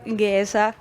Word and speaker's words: Géza: Ja minu kõrval on siis selle imetoreda filmi peaosa täitja Géza. Yeah, I pronounce it right.